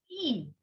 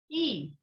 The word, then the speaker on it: i: next letter is i so how do we pronounce i in french it is e what is it e you can clearly see